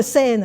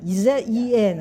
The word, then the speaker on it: Zen: 佢個東方其實係日本嘅 Zen 啊，Zen 啊，Zen 其實就中國禪嘅日本讀音嚟嘅。